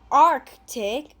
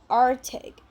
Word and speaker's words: Arctic: We don't really pronounce the letter C. We don't say Arctic. We say Arctic.